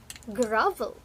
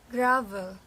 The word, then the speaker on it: grovel: word gravel right now listen to how i pronounce the word grovel again grovel now you try gravel once more gravel very